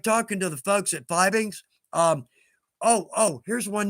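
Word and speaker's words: Fiebing's: to the folks at vibings um oh oh here's one note okay it's pronounced fibings and that's straight from the horse's mouth just think of it as f e e Bings right that's straight from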